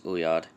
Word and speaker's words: oeillade: so down to origin ouiad an amorous glance has been in english for more than 400 years but remains completely unnaturalized from the word is obviously french it's pronunciation not obvious uyad and french means a